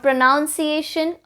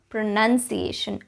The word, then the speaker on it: pronunciation: the word pronunciation itself not pronunciation pronunciation there's no noun in the spelling so pronunciation pronunciation pronunciation